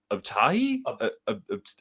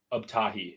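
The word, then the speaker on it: Abtahi: Um but yeah, um I believe it is Omid Abahi. I I'm I don't want to mispronounce his name, but I'm gonna pull it up on Instagram. Yeah, please do. Omid Uptahi.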